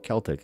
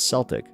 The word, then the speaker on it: Celtic: I appreciate that cuz now I'm going to stop saying Celtic it's Celtic although you know what sucks